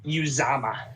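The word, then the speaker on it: Uzomah: Is it Usama? How do you say that? It's Uzama. Uzama, thank you.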